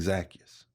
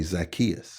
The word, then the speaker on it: Zacchaeus: I grew up saying Zacchaeus. Oh. But lots of other people say Zacchaeus. That's how I've always done Zacchaeus.